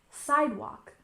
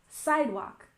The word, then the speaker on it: sidewalk: Emphasis on the first syllable, sidewalk, sidewalk.